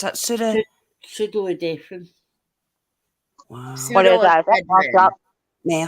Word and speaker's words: pseudoephedrine: Right, so this notes, right, okay, this how do you pronounce that? Pseudoephedrine.